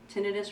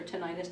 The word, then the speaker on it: tinnitus: very helpful also for tinnitus or tinnitus depending on how you say it we can do